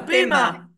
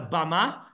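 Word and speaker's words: bimah: What do we call it in the diaspora? A bima. A bima. Here in Israel, we call it a bama, but we used to call it a bima.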